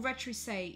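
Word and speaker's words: retroussé: Then you've got something called a retrousse nose, which I'm guessing is just a nose that is quite curved, I think. Or retrousse, even, there's an accent on the E.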